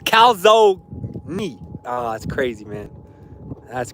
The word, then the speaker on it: calzone: Bro, first off, some people say calzone. There's no way it's calzone, right? Right? There's like, I think it's the dumbest thing ever. It's definitely pronounced calzone. That E is not pronounced. I got some beef with people who are pronouncing that E.